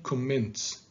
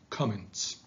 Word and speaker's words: comments: Please don't say comments, say comments.